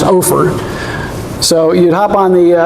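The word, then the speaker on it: Ophir: always thought it was no fear but everybody tells me that it was pronounced over so you'd hop on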